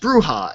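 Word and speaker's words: Brujah: And it's pronounced Bruja.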